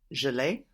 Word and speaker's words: je l'ai: How might you say I have it? Je l'ai. Je l'ai. Very good. Now we have je and then le and e will contract to give us le. Je l'ai. That's spelled L apostrophe AI. Very good.